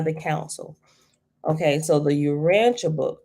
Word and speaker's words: Urantia: jesus christ stuff in the you and it's pronounced the urantia right it's spelled u-r-a-n-t-i-a book right okay so